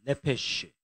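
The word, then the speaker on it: נפש: 예, 어쨌든 그래서 이제 영으로 번역되는 단어가 루아흐고 그다음에 이제 요 단어는 네페쉬라는 단어예요. 한번 따라 해보시겠습니다. 네페쉬.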